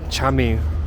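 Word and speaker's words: cami: In Turkish it's called Chami. It looks like it's spelt like Kami.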